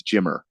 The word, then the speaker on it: Jimmer: I don't think basketball not Jimmy for dead it's Jimmer Jimmer no he spelled that I just said it wrong and um so that